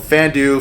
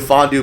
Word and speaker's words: Fandu: championship belts called called fandue fondue bells whatever you however you want to pronounce it it's f-a-n-d-u uh fandue fondue belts and another good friend